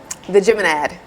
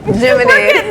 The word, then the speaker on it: Geminid: It is the Geminad, right? Id. Geminid. There.